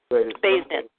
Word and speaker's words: Baysden: Baysden.